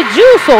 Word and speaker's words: 十三: ソですかまこれ重ソって読むんですよねはいそうです重